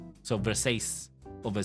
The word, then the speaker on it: Versace: why but everybody knows when you see the v e r s a c e you pronounce it ver Versace cool you become Italian